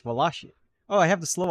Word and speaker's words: Wallachia: check a pronunciation for Waka let's see laia pronunciation wallia wallia see it's Walia oh I have the slow option now waia